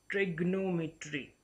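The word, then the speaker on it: trigonometry: ट्रिग्नोमेट्री इज the wrong pronunciation of this word. ये आपको मालूम है कि ये ज्योमेट्री एक ब्रांच है जिसमें हम ट्रायंगल्स को डिस्कस करते हैं, तो इसकी सही प्रोनाउंसिएशन क्या है? तो इसकी सही प्रोनाउंसिएशन है ट्रिगोनोमेट्री.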